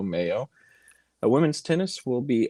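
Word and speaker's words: Meyo: track at the boat believe it's pronounced the mayo invitational m-e-y-o mayo a women's tennis will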